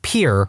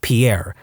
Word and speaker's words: Pierre: capital of South Dakota Pier wrong. She kept saying Pierre, two syllables, like the French name, and he said it was pier, one syllable, like what you fish off of.